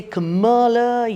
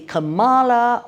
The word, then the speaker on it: Kamala: Donald Trump, As he points out, there are a lotta ways to say her name—kinda like the goddess. You can say Kuhmuhla, you can say Kamaalaa… Or you can say…